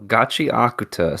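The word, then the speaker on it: Gachiakuta: evening here, and I already forgot how to pronounce it appropriately. So Gachi Akuta. There you go, Gachi Akuta.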